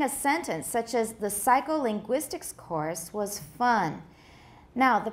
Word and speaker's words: psycholinguistics: Psycholinguistics. Which one sounds like it has more stress? The first or the fourth syllable? The fourth, right?